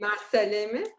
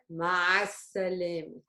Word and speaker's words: مع السلامة: here in مع السلامة. The 3 was the that from the throat. Remember? مع السلامة.